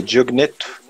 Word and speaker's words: Diogneto: seguinte, carta a, como é que pronuncia? Diogneto.